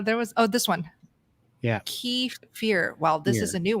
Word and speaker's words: kefir: Kefir. Okay. This doesn't really help. It's definitely kefir. Kefir. Emphasis on the Thanks, Jerry. Yeah. Now there was this one. Yeah. Kefir.